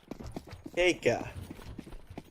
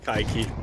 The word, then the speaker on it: Kaiki: Keika. Car. Okay. It's Kaiki. It's gonna be that pronunciation.